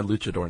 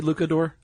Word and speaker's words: luchador: That's my luchador name. Okay. And you pronounced it correctly. It's not Luke, it's Luch. Oh, do people say Lucador?